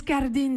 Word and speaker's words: Cardin: cardin pour un vénitien ça se prononce karl dean martin ratings c'est pas la télé l'acteur carling pas ce qu'on pourrait imaginer une consonance française c'est parce que nous